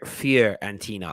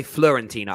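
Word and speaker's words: Fiorentina: pounds a week now fear and tina i keep saying it wrong i always say florentina i don't even know why and now i know it's wrong i keep saying it fear arentina all right yeah he's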